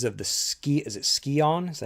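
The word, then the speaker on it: Scion: So, the story in this one is basically you're looking for these uh three pieces of the ski is it skion?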